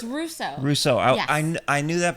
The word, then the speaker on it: Rousseau: a special guest Misty what's your last it's Russo Russo I I knew that but I didn't wasn't sure how to pronounce it if it was like a French